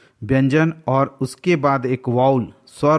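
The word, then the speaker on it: vowel: Guys, वाउल जिसे अपने country में कुछ लोग वोवेल करके प्रोनाउंसिएशन करते हैं, बट IPA international phonetic alphabet के अकॉर्डिंग शुद्ध उच्चारण इसका वाउल होता है.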